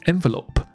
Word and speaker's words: envelop: had collected $96。所以他收集到了96块了，which they put into an envelope and sent to the woman。所以这96块他们放进了一个信封里，送给了那个女人。所以我们今天讲一个字，就是 envelope。那 envelope 有什么好讲？不就信封吗？可以，没错。可是呢，我们再多讲一下。所以名词信封没问题，可是它可以变成一个动词，就把你的一去掉，那它的发音变成 envelope。听一下这个分别：envelope、envelope。就像 develop，把那个 d 换成了 en， envelop。那 envelop 的意思是，这边有中文写给你，覆盖啦、包住啦、围绕啦、笼罩啦之类的。马上看一个例句，这个例句就是这边有个墓园，好，就是这个坟场，那看起来呢，哈，鬼鬼怪怪的。然后而且他又被这个迷雾笼罩着、哦、可能有一些这个你知道水蒸气啊这些的，所以读一下这句子给你听。